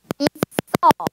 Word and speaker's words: 있어: 우리가 앞에서 공부했던 연음을 적용하여 있어 라고 발음합니다.